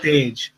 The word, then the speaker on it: Tej: It's with a G, isn't it? Tej. So technically, everyone says it wrong. Like it's very difficult. The actual pronunciation is Tej.